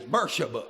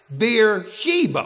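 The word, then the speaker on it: Beersheba: Now, we would know that as Bersa, wouldn't we? Bersa. But my pronouncing Bible has it where you're supposed to pronounce it. Beer Sheeba when you're talking about the Bible.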